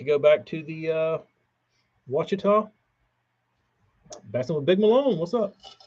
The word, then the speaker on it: Ouachita: right Morgan you know how I used to pronounce Ouachita when I was a kid wachita um Casey is that